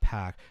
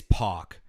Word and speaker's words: PAC: Jericho versus hangman Park not PAC okay it is POC so